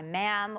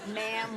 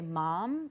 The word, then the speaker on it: ma'am: Sir and her by ma'am which rhymes with Spam like they write that in the letter they write you ma'am which rhymes with why